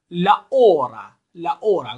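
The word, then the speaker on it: hora: کلمه اول لا اورا گفتیم که اچه تلفظ نمیشه، یا همون در واقع اچ انگلیسی، چون صدای ه کلا در اسپانیایی وجود نداره.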